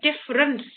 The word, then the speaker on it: difference: e and c e we don't hear the e here we just hear difference so if we cut